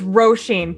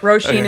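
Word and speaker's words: Róisín: It's Roshin, but the way you're saying it is the American pronunciation, so it's not entirely incorrect. Roshin is just the Celtic Gaelic way of saying it.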